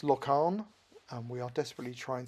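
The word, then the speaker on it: Laugharne: So we're told this is pronounced Locarn, and we are desperately trying to improve our Welsh pronunciation, having lived here for 3 years.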